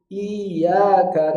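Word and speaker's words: إِيَّاكَ: Iyyaka na'budu wa iyyaka nasta'in. Bukan, tapi cara bacanya iya.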